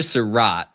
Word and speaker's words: Sarrett: So, so Elijah Serat is how he pronounced his last name.